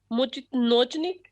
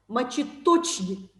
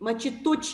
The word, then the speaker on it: мочеточник: Ma'am, it is called Mochitnochnik. No. Мочеточник. Repeat. Мочеточник.